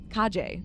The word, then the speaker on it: Kahje: Kahje, right? You actually pronounce the J.